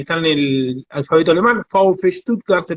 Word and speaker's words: VfB: escribe B corta, F, ETS, que es una letra que está en el alfabeto alemán, VfB Stuttgart se pronuncia, se me fue metiendo en el corazón.